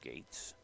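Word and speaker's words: Goetz: a strike to gates it spells it g-o-e-t-z pronounced gates not as bad as farv but this is right up there one in one cam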